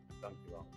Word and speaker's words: dankjewel: Dankjewel.